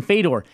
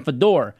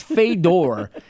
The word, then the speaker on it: Fedor: a massive name in fade or and as Curtis called them Fodor yeah and the reason I how you say it's not the door its fate door and my thing is